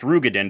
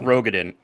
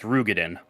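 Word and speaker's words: Roegadyn: you pronounce Rogen names which is actually pronounced ruggeden by the way oh yeah it's not Rogen it's pronounced ruggeden oh yeah that yeah because it's Moon breida they always say and it's the same OE okay yeah uh well anyways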